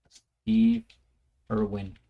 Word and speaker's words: Irwin: this face reminds me of the great Steve Irving, or Irwing. Well, how do you pronounce it again? The Crocodile Hunter. May he rest in peace. Steve Irwin.